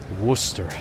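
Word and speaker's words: Worcester: street Massachusetts wer oh pronounce the book The O ooh like in book Worster it's almost like hiding a little r in there yeah I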